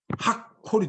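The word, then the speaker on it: הַקּוֹל: 그래서 읽을 때는 어떻게 했냐면 이거는 그냥 콜이었는데 이걸 붙일 경우에는 학콜이 되는 겁니다. 하나는 이 두 개가 두 개니까 콜이 두 개니까 하나는 받침으로 들어가고 앞에 이거는 시작으로 들어갑니다. 음절의 시작으로.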